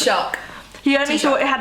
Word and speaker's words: Taoiseach: president, or only thought had how do you pronounce it? Taoiseach. He only thought it had a Taoiseach, not a president.